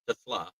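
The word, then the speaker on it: TeSlaa: Brian Branch, Ghille Dorsy, Miles Ranger, Kenny Yuboa, Aman Rossing Brown, Isaac Kasla because it's actually pronounced Tasla.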